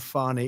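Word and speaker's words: Fani: she you be unfairly she goes by the name of fonnie even though it's f a n i she wants to pronounce fonnie he's on his [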